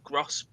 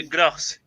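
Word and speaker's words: Groß: Füllkrug came on for Bittencourt, and Bartels for Gross. Is it Gross? It's spelled like GRO and then the weird B.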